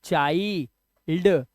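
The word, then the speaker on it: child: जब आई के बाद एनडी या एलडी आए तो आई को आई से ही पढ़ेंगे।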